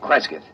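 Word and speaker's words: Cresgyth: record it instead as um well, I'll I'll spell it. C R E S G Y T H Kresith.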